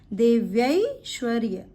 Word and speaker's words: देव्यैश्वर्य: इसका प्रोनाउंसिएशन है देव्यैश्वर्य।